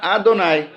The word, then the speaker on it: Adonai: Deveriam pronunciar Adonai.